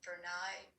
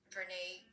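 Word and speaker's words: Brené: very well-known brene Myers some of us think her name is pronounced bernai Berna but it's Renee came up with the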